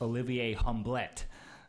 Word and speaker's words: Olivier Hublet: Belgium but he tells me his name is pronounced Olivier Hamblett so that's just fine and he is vice